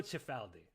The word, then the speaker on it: Cifaldi: is that is uh my family is very americanized pronunciation see if we were in italy right now in in the home country uh that would be frank actually franco franco chifaldi so if you if